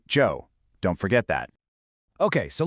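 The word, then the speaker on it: Zhou: And that's spelled Z H O U, but we pronounce it Joe.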